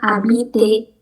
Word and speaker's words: habiter: Terus yang terakhir, tulisannya habiter, tapi kita bacanya cuma abite. Abite, hanya nggak dibaca, huruf R yang terakhirnya juga nggak dibaca. Jadi cuma abite.